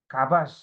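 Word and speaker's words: כָּבַשׁ: Nah, bacanya begini ya ini yang kanan ini. Kabas, menaklukkan itu dalam bahasa Ibrani kabas.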